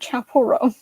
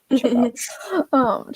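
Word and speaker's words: Chappell Roan: Chapel Roan. Chappelle.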